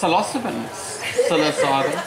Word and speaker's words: psilocybin: Yes, psilocybin. Psilocybin. Yes, that's the correct pronunciation apparently.